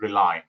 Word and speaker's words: Relai: The way we pronounce it is Relai. It's real estate and artificial intelligence put together.